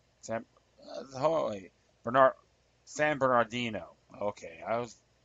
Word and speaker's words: San Bernardino: weapons like the ones that are used in San Bardino. San Bernard San Bernardino. Okay. I was mispronounced that as he frequently does.